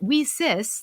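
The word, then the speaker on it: WiCyS: we spell it and we pronounce it we sis like we sisters because that's exactly what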